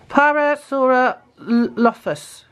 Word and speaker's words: Parasaurolophus: Parasaurolophus.